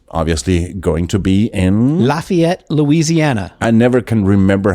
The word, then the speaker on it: Lafayette: to say that is you'll never get laughed at if you say Lafayette uh-huh God there you